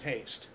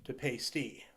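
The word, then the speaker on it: Paiste: call and talk to them, and originally they pronounced their name Paste, and then when they moved to Los Angeles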